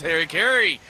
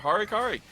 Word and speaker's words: Harikari: But that's a jump right back as Harry Kerry picks one up for themselves. And I keep saying that name wrong. I'll put respect on there. Harikari enjoying a kill for themselves after a roam down to mid.